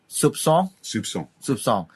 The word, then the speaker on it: soupçon: How to pronounce this? With a S, let's say like an S. Sir. Like an S. This is called a cedilla, actually. Cedilla, yeah. Soupçon. Actually, it's something like S.